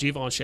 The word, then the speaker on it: Givenchy: so yeah so this uh apparently how you pronounce is Givenchy at least that's what Google told me when